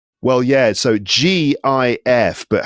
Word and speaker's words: GIF: Don't know why, but GIF is right because it's G. It's graphics interchange format, I think, is that that's what it stands for. So the G is for graphics. We pronounce graphics with a G sound, not a J sound.